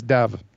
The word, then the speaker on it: Dav: Yes, Dav. Yes. Rhymes with chav.